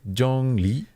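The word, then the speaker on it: Zhongli: Le the second T Rising tone is sort of like you're asking a question J J Le J and the Jong is like the highest part of your natural register Jong mhm natural so don't be like yeah don't like yeah just like where you're normally talking the highest part of that Jong is the first tone ofes J mhm too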